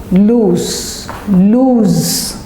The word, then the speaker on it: lose: let's now come to lose (z) You lose something.